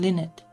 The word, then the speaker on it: Lynette: I'm Lynette. Like the bird, you know, but it is spelled differently.